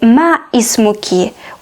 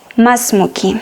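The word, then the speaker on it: ما اسمكِ: woman on alif here we have hamza but it's hamzatul wasser it's not pronounced so we don't say ma ismoki we should say masmuki egyptians will say sorry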